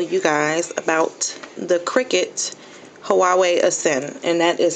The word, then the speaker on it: Huawei: wanted to tell you guys about the cricet Huawei asend and that is how you pronounce it huawe um I guess it's like